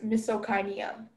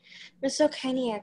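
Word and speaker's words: misocainea: Misokinia, are there any alternate pronunciations? Yeah, there is misokinia, misokinia, misokinia, and misokinia.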